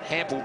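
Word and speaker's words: Hampel: Tell the word Hample rhymes with ample.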